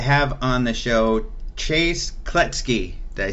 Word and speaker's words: Kloetzke: alejandro okay then without further ado let's talk to chase klutz key I am very excited to have on the show chase klutz key they say it right you absolutely did just